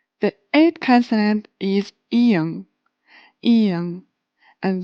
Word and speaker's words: 이응: The eighth consonant is 이응, 이응, and this one is really interesting because it has a silent sound, but it also has 응 sound, 응, 응. Silent sound when it's placed in the beginning in the syllable, and 응 sound when